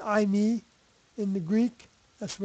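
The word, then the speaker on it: εἰμί: thing as iy isn't that interesting that it's I me in the Greek that's the way it's pronounced e i m i i me and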